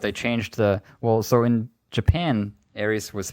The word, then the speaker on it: Aerith: over to the US they changed it to Aerith, which is kind of how I and most people know of her. Yes. But in the trailer they used Aerith, the correct way. The Japanese, original way.